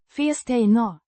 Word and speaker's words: fästena: Pronounced roughly. fes-tay-nah With a short i in fes and a stressed in. tay.